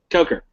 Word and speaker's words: Coker: How do you pronounce his Coker, name? Coker.